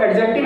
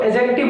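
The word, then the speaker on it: adjective: देखिए, इसको एडजेक्टिव नहीं बोलते, इसको एडजेक्टिव बोलते हैं।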